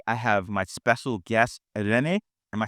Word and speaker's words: Irene: And so today I have my special guest, Irene.